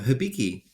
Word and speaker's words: Hibiki: your twitter today something about uh is it hibiki whiskey or how do you pronounce it oh hibiki yeah that i i was asking everyone what